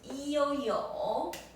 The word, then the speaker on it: 有: regular learner yeah so the next one is eoyo e o yo that's the third tone means I have okay half yeah no